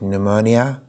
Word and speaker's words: pneumonia: Usually you don't read this P, you read pneumonia.